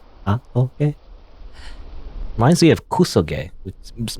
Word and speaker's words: Hatoge: It's like, I'm just pronouncing it because it looks like it's like in Japanese syllables. I don't know if it's Japanese necessarily. I'm pronouncing it like as if it's using Japanese syllables.